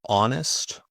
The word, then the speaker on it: honest: Silent h. Normally you find this in French words. For example, honest or honor, hour, ghost.